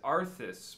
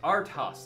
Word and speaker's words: ARTHAUS: am now questioning myself oh I've been reading it as arthas but it is spelt it is spelt AR th a us so I'm probably pronounced arthouse there's a space and I did not